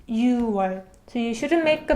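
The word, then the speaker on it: 유월: with you one so 6 in Korean is you right but we don't read it you boy we omit clear parts in completely and so it becomes u 1 so you shouldn't make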